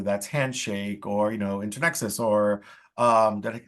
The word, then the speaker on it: Internexus: and internships whether that's handshake or you know internexus or um did I say it right intern